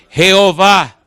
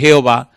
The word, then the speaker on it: Jehová: nombre Jehová en realidad Cuando el nombre de Dios se escribe no hay manera de pronunciarlo porque son cuatro consonantes jhw los masoretas le pusieron las vocales de la palabra adonay que significa señor y conformaron Enton e o a que es Jehová O a e que